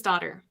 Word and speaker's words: Dottir: It is pronounced like daughter. It means daughter, but it's spelled Dottir, that last portion of it.